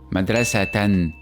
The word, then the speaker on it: madrasatan: of this word and when we add teruino's fatah it will be pronounced as madrasatan madrasatan also notice how in